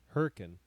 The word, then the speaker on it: Hurricane: town in Utah that's spelled hurricane but it's pronounced hurri hurrian and if you go south past it there's